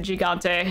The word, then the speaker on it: Gigante: so god bless or if i want to pronounce that in correctly in any ways el he got day but everyone pronounces it gigante so whatever about what's